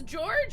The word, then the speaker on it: Georg: German George is pronounced Georg.